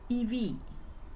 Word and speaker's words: EWI: And since, see, EW is usually pronounced in musical field, EV.